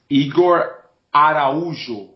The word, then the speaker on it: Igor Araujo: being rude but can you just confirm the pronunciation of your surname for me e so I get it right my name is eigor aru brilliant AR aruu aru brilliant okay so